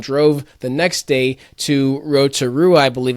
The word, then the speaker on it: Rotorua: we unplugged and drove the next day to Rotorua, I believe it's how it's pronounced.